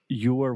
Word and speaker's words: your: You're welcome. So same pronunciation. I'm saying your, just like more, but with the y sound at the beginning.